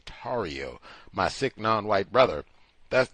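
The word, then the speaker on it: Tarrio: my sick Brothers uh Enrique toio mispronounced Enrique tario my sick non-white brother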